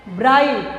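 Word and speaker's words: bright: ब्राइट, तो ये GH होता है, वो क्या हो गया, साइलेंस वर्ड.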